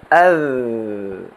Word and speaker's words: ذ: Huruf dhal diucapkan dengan menyentuh ujung lidah ke tepi gigi seri depan atas . Seperti ini. Az.